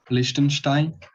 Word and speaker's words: Liechtenstein: How do you pronounce this, Alban? Liechtenstein.